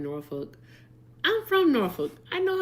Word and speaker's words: Norfolk: Hannah sent a $2 dono and said the L is soft in Norfolk.